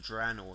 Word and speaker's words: Draenor: Draenor Draenor that's pretty cool thing warlords of Draenor sorry that's how you pronounce it basically not that I really care